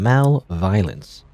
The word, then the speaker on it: malViolence: game Mal violin pronouncing Mal violence like you know like malevolence my level is I'm